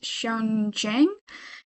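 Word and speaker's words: Xian Zhang: Um I think you pronounce her name as Shan Jen and um her her incoming um her incoming season is considered a new chapter of the Seattle Symphony.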